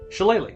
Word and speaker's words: Shillelagh: Shillelagh.